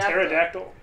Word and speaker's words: Pterodactyl: Pterodactyl. That's how you spell it? Yeah, it's a silent P.